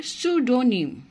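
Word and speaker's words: pseudonym: তাহলে উচ্চারণটা কি হবে? সুডোনিম।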